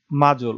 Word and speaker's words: module: সো এগুলাকে বলা হয় মাজল। ওকে, MODULE যেটা অনেকে মডিউল উচ্চারণ করে, সো এগুলাকে বলা হচ্ছে মাজল।